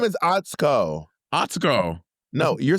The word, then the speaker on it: Atsuko: But her name is Atsuko.